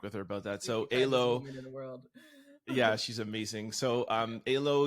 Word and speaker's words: Elo: When I was talking to you on the phone, I'm like, am I pronouncing it wrong or are you pronouncing it wrong? So it's Elo, but spelled ELO.